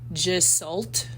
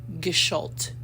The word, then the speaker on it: Gestalt: So I thought it was Gestalt, because I want to say it the way it looks, but it's Gestalt, and it's German, but Google helped me with that.